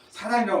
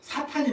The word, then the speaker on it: 사탄: 근데 저도 아직 개혁한 입술에 붙어 있다 보니까 사단이라고 말하게 되는데 우리 개정 성경은 이제 사탄으로 되어 있어요. 또 올해 발음은 사탄이 맞아요.